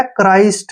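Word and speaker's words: Christ: पड़ेगा ठीक है ना तो ये आ गया क्राइस्ट क्या आ गया सी एच आर आई एसटी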